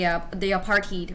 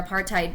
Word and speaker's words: apartheid: later known as the apartheid or apartheid, depending on how you pronounce it.